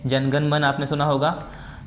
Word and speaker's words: जन गण मन: तो ये से पढ़ते हैं जन गण मन, ए यहाँ पर साइलेंट होता है, ठीक है।